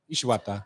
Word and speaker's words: Ishiwata: It's all about the tone. Yeah. The Yeah, it has to intonation. roll off rather than me being syllable pronunciation. Ishiwata.